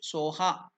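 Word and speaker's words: स्वाहा: it what is the how is it pronounced in tiban language SOA so what is the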